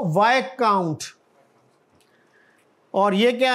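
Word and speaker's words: viscount: इसमें क्या लेटर कौन सा लेटर साइलेंट है साइलेंट है इसमें कल और आगे वाय काउंट वाय काउंट नेलसन ये एक नवाबी का दर्जा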